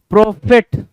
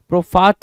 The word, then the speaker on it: prophet: प्रोफिट, प्रोफाट बोल रहा, PROPHAT बोल रहा, प्रोफाट, प्रोफाट नहीं भाई, प्रॉफिट, PROPHET, प्रॉफिट, PROPHET, प्रॉफिट, right, done.